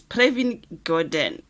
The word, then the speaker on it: Pravin Gordhan: Is it Pravin Gordhan? Guys, ngicela ningayinaki pronunciation. It's Pravin Gordhan.